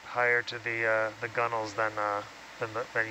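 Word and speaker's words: gunwale: is that at uh the gunnel is like the uh it's it's along the deck Edge um and it's actually gun whale but it's just over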